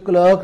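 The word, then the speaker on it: clerk: इसी तरह से each क्लर्क and each typist, तो यहाँ क्लर्क एक क्लार्क वैसे इसका प्रोनाउंसिएशन होता है ब्रिटिश इंग्लिश में।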